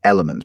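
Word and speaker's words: LMNT: If they're listening and they want to throw me a free couple of sachets, then be my guest is Element, but it's spelled L M N T.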